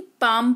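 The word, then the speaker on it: palm: L silent होता है जैसे कि पाम इसको पा कालम नहीं पाम पढ़ते हैं यानी कि हथेली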